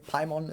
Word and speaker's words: Paimon: Paimon is the only right way to say it, and if you don't say Paimon, then you're probably wrong.